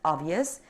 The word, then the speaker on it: obvious: word obvious of course the b is silent here the word obvious it means be clear